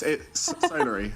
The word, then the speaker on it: Solary: No, it's Solary. Solary. Let me teach you how to pronounce Solary. So? La. Re. Okay. Solary.